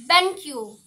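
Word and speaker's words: banku: BanQ. BanQ. Q. K-U is Q.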